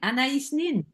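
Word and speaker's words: Anaïs Nin: Anais Nin.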